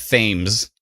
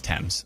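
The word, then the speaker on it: Thames: I think it came from England yeah the temps River but I want to call it themes because it's pronounced because it's spelled t h m s fames but no it's temps okay it'd be nice if it was te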